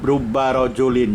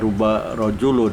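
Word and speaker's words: رُبَّ رَجُلٍ: Inco baloney contohnya Rob rubah rojulin jadi rubah rojulin ya Bacanya buka rubah rojulun rubah rojulin karimin coba Lani beberapa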